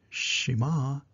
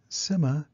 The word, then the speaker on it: Sima: is spelled s-i-m-a and is pronounced differently in different languages such as Sema Shima simma and Sima for our story today